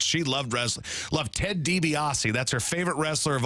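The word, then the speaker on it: DiBiase: loved wrestling Lov Ted debiasi that's her favorite wrestler of all time Goldberg and Ted debiasi but she couldn't pronounce his name she'd say say Grandma who's your favorite wrestler she'd say Ted debos I'd say that's good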